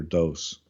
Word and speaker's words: Dos: And according to the correct pronunciation would be Black Tiger Dos.